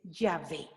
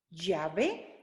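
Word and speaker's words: Yahveh: es me ha enviado y saben cómo se dice él es se dice ya ve ya ve el sagrado tetra grama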